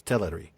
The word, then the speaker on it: Teleri: Because we're we're focused more on the correct stress rather than the correct second syllable vowel sound, but Mhm. uh that is that is the way it is. It's Teleri.